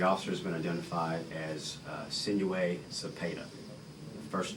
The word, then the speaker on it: Sinue: S-I-N-U-E is the first name, and that is pronounced Sinue.